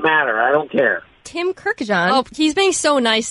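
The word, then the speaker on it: Kurkjian: Yeah, there's a lot of extra I's put in between the K and the J. There's a lot of Kirkjians going, but Kirkjian is kind of a new one from an ESPN employee.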